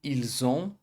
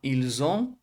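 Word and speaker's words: ils ont: Então vai ficar ilzon ou elzon, tá bom? Não pronuncie esse t final igual eu coloquei aqui, ó. Ilson elzon.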